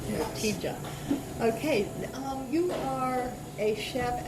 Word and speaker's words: Ortygia: It's Ortygia. Ortygia. Restaurant. It's a hard G. Yes. Ortygia.